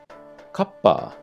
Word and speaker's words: kappa: Kappa. This is another case where the consonant is doubled up and then the two sounds are sort of stuck together. Kappa, kappa.